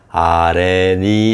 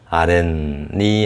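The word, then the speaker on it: 아랫니: 니은 앞에서 아레니 이렇게 발음되는 게 아니라 아렌니 하고 이 숏 위치에서 니은 발음이 겹쳐서 나죠. 니은이. 그래서 아렌니 하고 이렇게 아렌 이렇게 나죠.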